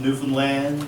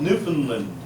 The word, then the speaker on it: Newfoundland: Nor is it to be called Newfoundland. The attempt to rhyme the last 2 syllables always seemed bizarre to me. Perhaps it is meant as a partial concession between mainland sensibility and local dialect. Just call it Newfoundland, if you please.